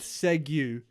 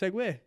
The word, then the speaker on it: segue: And then I said because it's spelled segu, and then we started saying segu.